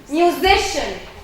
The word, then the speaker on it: musician: Musician.